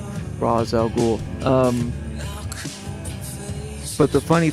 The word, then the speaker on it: Rosz: Um, and it also helps phonetically uh for people to know how to pronounce Raz R O S Raz Al.